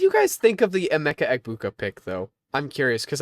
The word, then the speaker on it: Emeka Egbuka: I really like I don't know how to pronounce it. Emeka Egbuka. That's it. Emeka Egbuka.